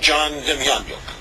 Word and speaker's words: John Demjanjuk: Do you know the name John Demjanjuk? Some people pronounce it John Demjanjuk.